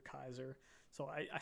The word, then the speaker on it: Caesar: this looks like uh Caesar Kaiser so I I say the split because his name is spelled Caesar and some of the wastelanders call him Caesar but he himself and